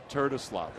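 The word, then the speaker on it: Terdoslavich: It's pronounced the way it looks, not the way it sounds.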